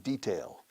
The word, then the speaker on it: detail: Stress the first syllable. Don't stress the second. You say detalle. And in commercial language, al detalle, for al pormenor. But we say detail.